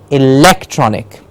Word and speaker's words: electronic: Yes, the syllable has to be on, the syllable stress has to be on lek, electronic.